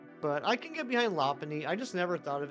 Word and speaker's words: Lopunny: But I can get behind Lopunny. I just never thought of it that way. But like punny, like bunny. And lop is in like lop-tailed rabbits, Lopunny.